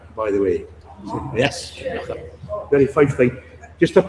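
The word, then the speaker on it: Kilconquhar: It looks like Kilcohonquhar, doesn't it? It's pronounced Kinyachar, by the way. So, yes, Kinyachar.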